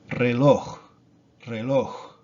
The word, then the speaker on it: reloj: All of these words, as you can see, they end in a consonant that is not S or N. So it's going to be the last syllable, the last vowel. That's going to have the accent.